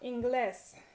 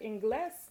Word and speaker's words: inglés: next to last syllable, but inglés is stressed on the last syllable, so that's why you have to write a written accent, because it breaks rule 1. Inglés, with an accent on the E.